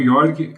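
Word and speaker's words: Jorg: Então nós vamos acompanhar o Yorg, o que se escreve Georg, né? J O R G.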